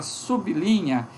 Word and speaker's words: sublinha: ok aqui tudo bem a gente pode considerar a palavra sublinha ela pronunciada separadas sublinha mas aqui depois do B nós temos o izinho ela pronunciada sublinha um verbo é que